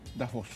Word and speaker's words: Davos: O sea, así que es ¿Cómo es de la localidad donde se hizo el meeting? Davos. Muy bien.